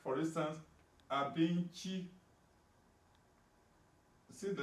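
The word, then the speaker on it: abinci: Now, Abinchi, you see the word and the letter C is pronounced chi in the GUOSA, and that is food.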